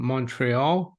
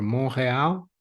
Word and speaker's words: Montreal: hi Mary rqua uh from Montreal or monreal monreal if you want to be uh correct about the pronunciation Andrew Watson he's a